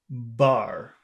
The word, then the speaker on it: bar: Is a Bar. as a bar. Bar. You can feel your lips vibrate because instead of pushing out the air, you're pushing it down.